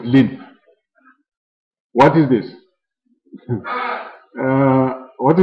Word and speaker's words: ln: Normally, we just pronounce it as lin.